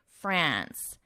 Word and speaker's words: France: But in English, we pronounce the name of the country France, ants. So a more nasal A sound, ants.